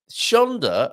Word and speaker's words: Shonda: Shonda rhymes with Fonda. Spontaneous comment. Shonda does rhyme with Rhonda.